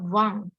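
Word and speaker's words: vingt: Di sini Z ini bacanya kayak like a smile ya, kayak senyum gitu. Jadi Z. Z. 20 itu Wang.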